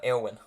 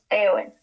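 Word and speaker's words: Éowyn: Eowyn. Eowyn.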